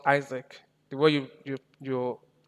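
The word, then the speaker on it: IASC: This is pronounced Isaac. The way you pronounce Isaac like ISAAC.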